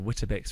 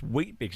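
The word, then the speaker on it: Weet-Bix: She's Australian, lives in Perth, and a little girl, probably seven or eight, says, "I have Wbecks for breakfast." And she goes, "No, it's pronounced wheat bicks."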